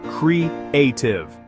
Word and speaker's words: creative: For pronunciation, it has 3 syllables. Creative. The stress is on the middle syllable. Listen, creative.